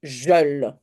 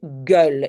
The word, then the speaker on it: gueule: si j'ai pas voilà imaginons je mets ça alors je dois prononcer jeul ok c'est guul et le E c'est